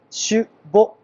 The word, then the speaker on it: 酒母: ないと思いますお酒の母と書いてしぼというんですねもも古くは元